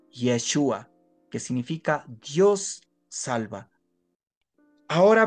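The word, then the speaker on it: ישוע: Jesús significa Dios salva en el idioma original del arameo lengua de Jesús se pronuncia yeshua que significa Dios salva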